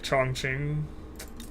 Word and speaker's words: Chongqing: uh is like the the pronunciation of it makes me S feel like I'm saying something ensive but like that's actually how you pronounce it it's like chong ching but like jangu is